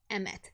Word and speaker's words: Emmet: Is it pronounced Hemet? It's Emmet, actually.